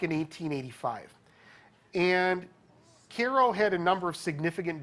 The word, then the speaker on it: Cairo: First off, it's pronounced KO. It's not Cairo.